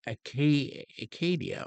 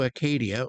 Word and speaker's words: Acadia: They had a province or whatever it was called Acadia, or am I getting that right? Acadia.